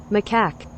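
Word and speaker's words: macaque: what they sound like that's edifying that's edifying maak maak right so that's how you pronounce it okay so it says whose cells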